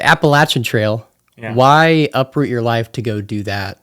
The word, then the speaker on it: Appalachian: right that time very good sweet all right Appalachian Trail why uproot your life to go do